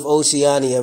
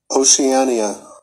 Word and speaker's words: Oceania: Now, we're going to start with Oceania, right? Now, you pronounce this Oceania.